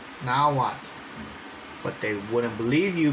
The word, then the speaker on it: Nahuatl: Like, no, it's not Nahuatl, it's Nahuatl. Nahuatl.